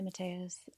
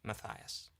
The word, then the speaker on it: Matthias: Hi, Matas. I was wondering if you can help me understand if for all who are wondering, my name is pronounced Matias.